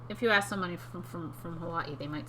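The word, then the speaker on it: Hawaiʻi: Hawaii no I haven't Hawaii although I think that some people in Hawaii say Hawaii for what yes some people spell it with the apostrophe between the last day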